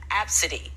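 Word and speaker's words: Abcde: her daughter's name is spelled a b c d e and pronounced absidy this story sorry for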